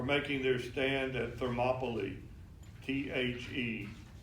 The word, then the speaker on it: Thermopylae: Know that the Spartans will forever be remembered as heroes for making their stand at Thermopylae, T-H-E-R-M-O-P-Y-L-A-E, Thermopylae.